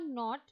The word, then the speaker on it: knot: So one not is K-N-O-T not, where K is silent.